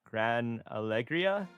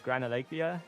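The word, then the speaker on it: Gran Alegria: You're not taking I'm gonna butcher the pronounce I'm gonna I'm gonna butcher the pronunciation, but isn't Grand Algria? I think it's Gran Algriia.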